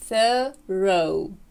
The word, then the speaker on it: thorough: І, до речі, Cambridge Dictionary показує нам, що існує ще один варіант американської вимови, коли ми вимовляємо його як «thorough», «thorough», «thorough», «thorough». І британське «thorough». Який з цих варіантів озвучує нам диктор? Thorough. Ну, очевидно, що ось цей варіант. Але, як бачимо, три варіанти існують в природі, і вони мають місце бути.